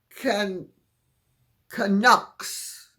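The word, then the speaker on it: Canucks: the V now couver can kaks the O in kak is pronounced like Puck hockey game sorry sorry sorry I'm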